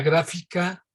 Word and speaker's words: gráfica: Entonces es la gráfica X, con acento en la A, en la primera.